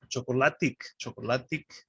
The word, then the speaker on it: chocolatic: Pronouncing the second to last vowel. Sometimes it's easy to forget which one we're stressing. So there's three here. So it's chocolate.